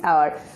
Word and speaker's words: hour: This is hour, but here the first letter is age but pronunciation is hidden of age.